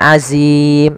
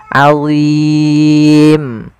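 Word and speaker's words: عظيم: Kemudian pada lafal azim ada bacaan mat arid lisukun, dan hati-hati dalam lafal dha jangan dibaca dengan azim, nanti diganti dengan huruf zai jadinya, atau ajim dengan huruf jim, salah. Dia huruf dha, azim.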